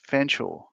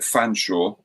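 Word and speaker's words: Fetherstonhaugh: Pronounced Chumley and uh oh oh featherstone pronounced Fansaw. Well, it depends on what part of the family. Some of them call it Fanshaw and some of them call it Feston.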